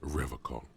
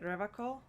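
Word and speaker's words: Revachol: his feet he pronounces rivercon with a hard k unlike other people is it revocal i like to pronounce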